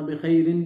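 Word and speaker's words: بخير: अना बिखैर, अना बिखैर, अना बिखैरिन भी कह सकते हैं, प्रॉपर स्टैंडर्ड जो अरबिक है उसकी प्रोनाउंसिएशन, लेकिन बखैर भी चल जाएगा, यानी जो आखिर में जो इसकी हरकत हैं आप उन्हें ज़ाहिर ना भी करें, आराब वैसे ही नहीं कहते, तो कोई मसला नहीं है, अना बखैरिन वल्हम्दुलिल्लाह।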